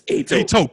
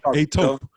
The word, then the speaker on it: Etop: We got Etop. Did I pronounce that correctly? That's Etop. Etop.